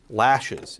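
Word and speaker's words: laches: Lashes. It's pronounced like latches, but it's spelled L-A-C-H-E-S. And latches is like an equitable statute of limitation, right?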